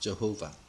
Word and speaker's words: Jehovah: The Tetragrammaton, or the four-letter name of God, written thus Yod-Heh-Vah-Heh, is pronounced Jehovah.